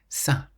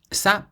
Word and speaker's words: ça: And all it does is tell you to pronounce the C like the letter S. That's why ça is pronounced like an S-A, ça, rather than ka.